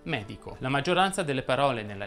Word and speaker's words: medico: come ad esempio bene si definisce sdrucciola una parola che ha l'accento sulla terzultima sillaba come ad esempio medico la maggioranza delle parole